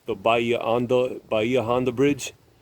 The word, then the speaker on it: Bahia Honda: he built several landmarks like the baya ando bahia honda bridge it's in spanish this is pronounced by ia onda which means deep bay and the seven mile